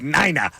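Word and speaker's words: Nena: the German last Nina I thought it was Nina yeah yeah was not it's pronounced Nina because it's it's German you know you know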